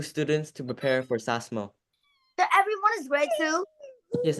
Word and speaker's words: SASMO: After the samaso, we still have like more studying like this or not. What is samaso? It's pronounced sasmo.